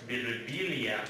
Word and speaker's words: Birbiglia: Sometimes people come up to me and be like, "In Italy, it's pronounced Birbiglia."